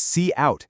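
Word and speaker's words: cout: We have this statement here see out which is pronounced see out standing for console output.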